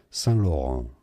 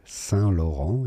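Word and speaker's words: Saint-Laurent: San Lauron. S. Yes. The T is silent in French. San Lauron in English.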